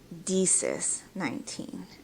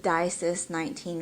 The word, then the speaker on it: DiSis19: you to say, that's great, but it is Deesis19. But Disis19 would be a preferred pronunciation.